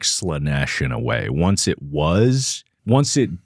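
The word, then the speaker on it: Slaanesh: You do understand Slanesh. Yes. Good. Do you? Yes. Do you really? Yeah, I do. Okay, good. Just checking. It's a big word, but Slanesh is 2 syllables.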